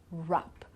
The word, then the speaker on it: rap: Right, wrote, rap, wrong, or wrist. Everything starts with an R, so the sound R, but in fact we don't pronounce the W here, right?